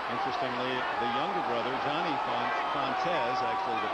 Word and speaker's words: Fontes: Interestingly, the younger brother, Johnny Fontes, actually the pronunciation, has taken over Lenny's spot as the defensive back coach here in Detroit.